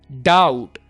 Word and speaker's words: doubt: scared fantasy m fantasy doubt be silent doubt sh stability stability ma